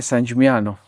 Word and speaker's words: San Gimignano: we should definitely see San Gimignano or San Gimignano. That's San Gimignano or something like that. San Gimignano. I think there's a GN there.